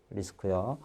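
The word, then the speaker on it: RISC: CI에서 C인데 일반적으로 우리는 시스크라고 읽고요. 그 다음에 RI에서 C를 리스크라고 읽습니다. 리스크요.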